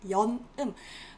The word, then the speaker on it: 연음: We pronounce it as that, right? 연음.